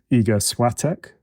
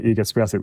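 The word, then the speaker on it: Iga Świątek: And I have a new hero who is Iga Swiatek, the women's, I was saying her name wrong, Iga Swiatek, the women's number 1, who just seems to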